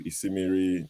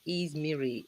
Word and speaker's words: Ismiri: So we go next to Isimiri, Makeup of London. Sorry, Mr. Shaw, it's not Isimiri. It's pronounced as Izmiri, and it's not makeup.